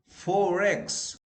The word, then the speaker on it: forex: Forex. Forex. So you tend to pronounce R. Okay. Why? Because it's followed by E, vowel sound. So like forex, you know, forex money, foreign exchange money, forex. There you pronounce R. Why? Because forex R is followed by E sound, which is a vowel sound.